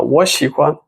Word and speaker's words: 我: together the first character the pronunciation of the first character will change into the second tone the right tone actually